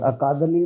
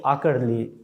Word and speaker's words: आकड़ली: सर मुख्य अच्छा और अकादली बखशीराम अकादली का क्या मतलब हुआ सर जो इसका उच्चारण है सही वो आकड़ली नाम कहा जाता है आकड़ली का एक